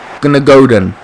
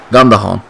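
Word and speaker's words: Gündoğan: Coming off for Gunnagodan. Godan. His pronunciation of his name is wrong. I'm probably saying it wrong, but still, you get what I'm saying. Gundogan.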